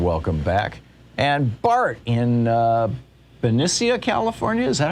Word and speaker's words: Benicia: And Bart in Benicia, California. Is that how you say it, Bart? Yeah, it's Benicia.